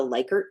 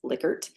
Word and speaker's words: Likert: are going to hear people call it a ler type scale or a liyer scale and I use liquer because Dr licker pronounces it that way uh and or pronounced